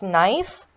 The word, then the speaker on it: knife: the k silent here then it's knife knee both of these have silent case finally it's comb the